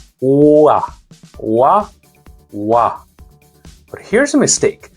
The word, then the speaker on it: 와: First, wa. It's o plus a. So start with o, lips round, and glide quickly into a. O, a. Wa, wa.